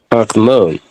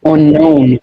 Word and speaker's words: unknown: unknown, known. The W is silent. I want to know why don't you pronounce the K? It's a silent letter.